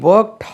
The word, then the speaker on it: worked: ஹீ ஒர்க்ட் heart but could not score good marks. அவன் கடினமாக உழைத்தான், ஆனால் நல்ல மதிப்பெண் பெறவில்லை. ஹீ ஒர்க்ட் heart, he ஒர்க்ட், WORKED, ஒர்க்ட். இது இட்டு என்று உச்சரிக்கணும், ஒர்க்ட். ஒர்க்டுன்னு சொல்லக்கூடாது.